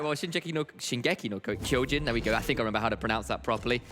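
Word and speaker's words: 進撃の巨人: All right, well, Shingeki no Kyojin, there we go. I think I remember how to pronounce that properly.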